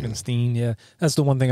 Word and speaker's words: Frankenstein: In fact, he insists that his surname is pronounced Frankensteen. Frankensteen, yeah.